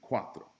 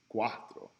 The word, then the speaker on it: cuatro: back today Guapo Quatro is it like an S like Valley or zyk as in cow okay it's gonna be that hard seat so based on these